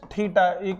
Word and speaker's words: theta: So we get a relation that sine of 90 minus theta. This is a Greek symbol known as theta. You can pronounce this as theta.